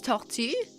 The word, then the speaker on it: tortue: En français, c'est tortue.